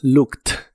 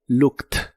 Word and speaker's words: looked: En el pasado es looked igual la doble o se pronuncia como una u corta y explosiva y la e d del final se pronuncia como si fuera una t. Looked.